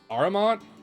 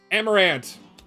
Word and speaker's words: Amarant: and the first character is I'm going to butcher the name aramont Aron not araman arumat I can I remember